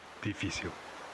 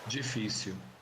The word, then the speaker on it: Difícil: Difícil. Difícil. In this word, you can hear the Brazilian G sound at the beginning, while in the European word it's D.